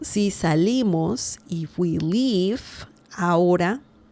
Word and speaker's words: ahora: So, si salimos, if we leave, ahora, remember the H sound in Spanish is mute. We do not say it. There is no sound. The letter H has no sound in Spanish. So the pronunciation of this is ahora. Okay, it's not ahora. No, it's ahora.